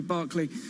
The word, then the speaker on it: Berkeley: opener trading now 1.9% Berkeley Barkley two ways to pronounce it I think my second one was correct but that one is